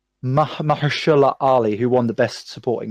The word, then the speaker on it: Mahershala Ali: It's an independent, all ethnic minority cast with see if I can pronounce his name. I think it's Mahershala Ali, who won the Best Supporting Actor, and I knew him from House of Cards.